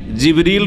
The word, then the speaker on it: জিবরিল: তাহলে জিব্রাইল আলাইহিস সালামের নাম কোরআনে কারিমে জিবরিল রয়েছে, যেটা অন্য উচ্চারণে জিব্রাইল, অন্য কেরাতে জিব্রাইলও, জিবরিল, জিব্রাইল আর আর রুহ, এই